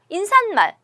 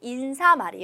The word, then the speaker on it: 인사말: 첨가해서 발음하는 것 같애 인상 말 인산 말 그렇게 말을 막 발음하는 것 같아요 그레이가 틀린 발음이 라는 거죠 여기서 맞는 발음은 털을 인사말이 요 인사말 인사말 아시겠나요 어 그런 어려운 거죠